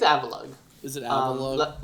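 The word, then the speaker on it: Avalugg: I think it's Avalug. Is it Avalug? Like Avalanche, but then Avalug.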